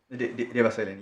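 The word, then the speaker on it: Devaseelan: But what Lady Justice Rose introduces this discussion at 37 was saying that the guidance, that's the I can't pronounce it. Yes. Devasilan? Devasilan, yes.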